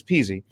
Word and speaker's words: Pizzi: of speaking of non-logic how do you pronounce your name it's peasy speaking of non-logic it's